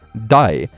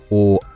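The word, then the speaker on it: 大: So for example, this kanji for big has the Chinese pronunciation dai and the Japanese pronunciation or, with both of these being used for big in daisuki and oki.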